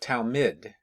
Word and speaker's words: Talmid: Talmud is not Talmud, but Talmid, different pronunciation, is the Hebrew equivalent of the common Latin and Greek words for disciple.